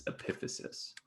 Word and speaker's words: epiphysis: I kind of switch back and forth, but the correct pronunciation is epiphysis.